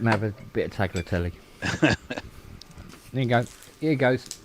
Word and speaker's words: tagliatelle: No, I just let them have a bit of tagliatelle. There you go. Here goes, Nelly. Tagliatelle. Tagliatelle. There you go. But there's no G. No, there is a G. You don't pronounce it hard.